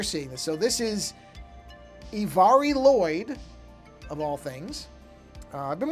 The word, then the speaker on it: Mari Lwyd: Apparently the way to pronounce it is Mari Lwyd. I was mispronouncing it very badly.